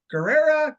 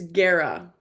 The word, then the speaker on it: Guerra: It's Guerra. Guerra. Okay, But if you are Spanish, you're supposed to say it more with like the R roll, the accent, but I'm not okay.